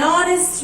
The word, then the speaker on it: honest: An hour, an honor, an honest man. In all these examples, you can see the first letter H is silent.